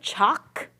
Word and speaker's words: chalk: Next word, chalk has the, awesome, how do I spell it? A-L or A? Chalk. Do you hear that, ough? No, we don't, so it's spelled with the, A-L. Where in small we do hear that L sound, okay.